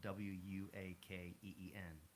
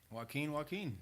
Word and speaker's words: Joaquin: My name is spelled Joaquin, but I spelled it in a way people could pronounce it correctly. So Wuakeen, and it just stuck.